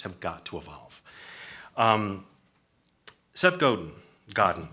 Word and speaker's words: Godin: got to evolve Seth Godin Godin I never know how to say his name what does it gotta go Godin thank you said on his blog